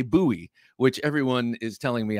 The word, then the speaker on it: Bowie: at this point it's well established I cannot pronounce b-o-w-i-e correctly whether I say Bowie uh which I said growing up as a yank or whether I say buoy which everyone is telling me I have to